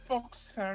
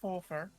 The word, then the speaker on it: Foxfair: And it's pronounced Foxfair, not Fofair.